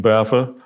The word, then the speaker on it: BAFA: So we come with by newsboys for newsboys, but we're going to have BAFA, pronounced BAFA as it's in there, which means by assholes for assholes.